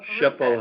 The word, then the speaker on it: SHPO: They pronounce it SHPO, State Historic Preservation Office.